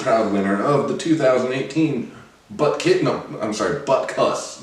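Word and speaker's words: Butkus: winner of the 2018 Butt Cuss, not Butt Kiss award. Get it right.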